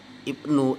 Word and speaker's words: IPNU: Jadi untuk IPNU atau IPNU, nah kita bacanya IPNU saja ya.